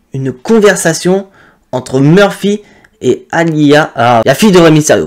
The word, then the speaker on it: Aliyah: conversation entre Murphy et Aliyah, la fille de Rey Mysterio, parce que j'ai du mal à prononcer son nom, je vais manger, c'est Aliyah. Ouais, voilà, à l'IA.